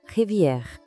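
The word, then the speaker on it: rivière: E as águas que vão cortando toda essa paisagem, a gente chama de la revier. Percebe aquele erre bem francês que vem lá do fundo da garganta?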